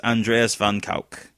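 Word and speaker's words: Andreas van Kuijk: I mean, so he actually pronounces it correctly. It's Andreas van Kuik.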